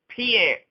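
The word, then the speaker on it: Piceance: The reason why I mentioned the Pisceance Basin, and I'm going to Google it to be able to pronounce it. So the Piscean Basin, Piance. That's how the locals pronounce it.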